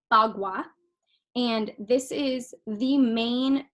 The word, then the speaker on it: Bagua: So it's pronounced Bagua, and this is the main tool used in Feng Shui.